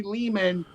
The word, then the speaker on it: Lehman: I'm Ari Lehman, rhymes with demon.